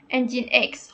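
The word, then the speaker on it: nginx: ini Ah di sini ada cara baca engine X jadi engine X Oke Berarti benar cara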